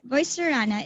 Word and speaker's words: Voicerana: from the ashes and my name is voicerana it is a combination of voicer and the word anna from my name so um it rhymes with the word filipina and there and if